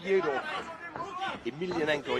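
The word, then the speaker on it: Fedor Emelianenko: Yeah, he really wants to fight Fyodor Emelianenko. Yeah, that's the way you pronounce it.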